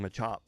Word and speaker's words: Machop: It just sounds weird saying Machop. Machop. But he said it right, but I think he said it like like syllable. Like the syllables that he said were weird. Like he said machop mach. Like it's it's it's like one syllable.